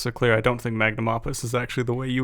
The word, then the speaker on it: magnum opus: are saying it because oh that's not how i'm saying it you guys are wrong magnum opus is usually how it's said all right cool glad